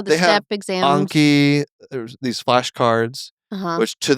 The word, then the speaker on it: Anki: Anki, there's these flashcards, which to that group I said Anki, and they all laughed at me.